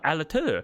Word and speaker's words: Allatour: and I was like, oh, Allatour, because it had a silent R at the end, and I was